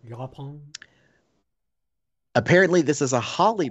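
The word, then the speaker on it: yaupon: And it's called Yapon. At least I think it's how it's pronounced. It's Y-A-U-P-O-N. Yapon.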